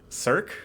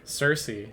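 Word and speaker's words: Circe: Look at how it's spelled. Learn other languages. What was the other one today? Cirque? Cersei.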